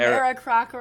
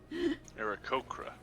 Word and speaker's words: Aarakocra: it's, you've been spelling and pronouncing Aarakocra wrong. Aarakocra. It's this. Aarakocra. Yeah. Aarakocra. That's how I say it. Annie, you've been putting an extra R in it after the K.